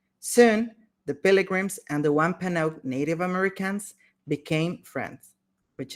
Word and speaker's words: Wampanoag: Son, the pilgrims and the Wampang. Wampanoag.